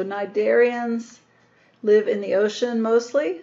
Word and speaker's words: Cnidaria: umoa are the narian the C is silent in this philm name so nid darians live in the ocean